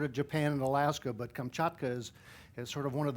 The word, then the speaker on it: Kamchatka: come here you have to be able to pronounce it right kamchatka now all after me oh gesundheit but in